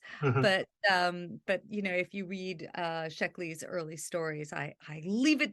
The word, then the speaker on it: Sheckley: His name was Robert Sheckley, and I hope I got pronounced his last name correctly.